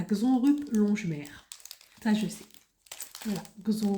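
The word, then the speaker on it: Xonrupt: très loin de chez moi c'esteill alors ça s'écrit comment c'estécrit X X X e u i de Y et xonrup plem alors xonrup c'est x on R xon x O n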